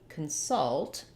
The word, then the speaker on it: consult: First of all, when we look at the word consult, we have the stress on the second syllable.